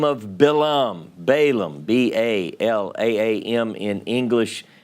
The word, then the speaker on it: Balaam: about this seer by the name of bilum balam b-a-l-a-a-m in english pronounced bilaam in hebrew and we talked about